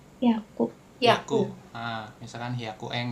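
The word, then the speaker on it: 百: 100 bacanya hiu. Haku. Haku. Heeh. misalkan hiaku eng gitu kan seperti itu. Oke. Kalau 1000 itu berarti mesti buka ini dulu berarti. Oke, kalau 100 tadi Haku udah ya kan ini 200 Haku.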